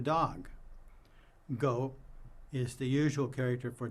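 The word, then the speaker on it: 狗: It used to be pronounced the same as dog, go.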